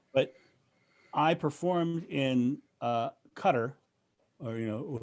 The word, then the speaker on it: Qatar: i performed in uh cutter or you know the mispronunciation is qatar but it's cutter that's how they said over there and um on that